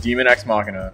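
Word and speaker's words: Daemon X Machina: my god looks amazing yes that's how you pronounce it demon ex machina get it like deus ex machina is God from machine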